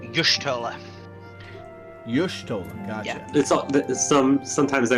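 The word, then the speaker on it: Y'shtola: uh by the way it's pronounced yoshtola you're stolen some sometimes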